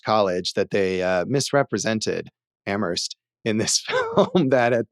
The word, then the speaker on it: Amherst: He says Amherst, and you're not supposed to pronounce the H.